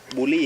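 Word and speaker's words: Bully: ไม่ ธรรมดา ที เดีว สาย พันธุ์ มัน ออก เสียง ว่า ยัง ไง นะ วะ บูลี่ ครับ บูลี่ บูลี่ บูลี่ อริกัน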